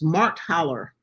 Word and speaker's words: Marthaller: her name right here and Kathy will you pronounce her last name for me sure it's Mark Haller so it is m-a-r-t-h-a-l-l-e-r and um I'm putting